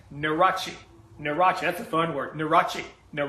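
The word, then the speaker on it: Nurhaci: in you are a che CI and it's pronounced neurotic neurotic neurotic the Thunder achi no rachi sometimes I'm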